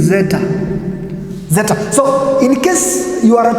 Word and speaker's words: zeta: That one is actually pronounced as ads, but when you go to the Greek, the way you are going to pronounce it in the Greek, it is zeta.